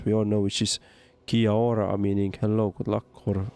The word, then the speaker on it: Kia ora: Okay, I will teach you one phrase we all know, which is Kia ora, meaning hello, good luck, or also farewell. It's pronounced like Kia aura.